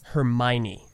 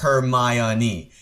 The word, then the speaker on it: Hermione: Hermione from Harry Potter Hermione.